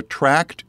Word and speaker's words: tract: We call them our Tract and Truth Tuesday. Notice the way I'm saying that word tract. It's spelled T-R-A-C-T.